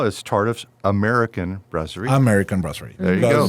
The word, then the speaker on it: brasserie: Brasserie. Brasserie.